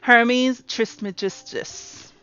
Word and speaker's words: Hermes Trismegistus: How do you pronounce that? Hermes Trismegistus. You heard her. Hermes Trismegistus.